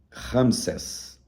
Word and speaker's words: Ramsés: no deserto primeiro local e o local chamado Ramsés esse nome se deriva do egípcio propriedade do Rei ramses ramisés eh se lê ou meso se escreve ramessés mas é a propriedade do do